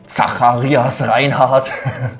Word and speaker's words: Zacharias Reinhardt: pretty hard to remember, especially in its original German pronunciation. Zacharias Reinhardt.